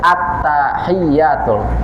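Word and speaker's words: التحيات: At-tahiyyatul. Hati-hati jangan sampai ada hubungan tuh taknya dengan hak. At-tahiyyatul. Kalau membacanya at-tahiyyatul langsung dari tak ke ha, maka itu bermasalah.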